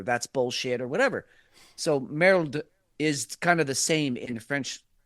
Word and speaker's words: merde: is spelled merde, and it's pronounced something like merde. Merde. Yeah. With an L. There's an L in there, even though there isn't an L in there, but merde.